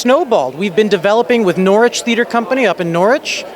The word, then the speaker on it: Norwich: I think I'm pronouncing that right. I'm so America you got it right cuz every time I say they're like it's Norwich. I'm like I think that's what I'm saying.